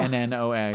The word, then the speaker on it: Lennox: Lennox. Oh, It's like Annie Lennox. It's a last name.